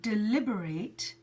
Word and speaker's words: deliberate: the phonetic sound then so you can see there's that little - that is the syllable stress deliberate deliberate brilliant thank you so much